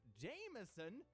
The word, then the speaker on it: Jamasian: Jamasian? Pronounced Jameson?